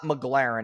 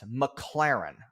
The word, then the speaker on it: McLaren: It's not McLaren, it's McLaren.